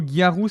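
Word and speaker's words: ギャル: Là le mot garou, c'est la prononciation japonaise de Gal.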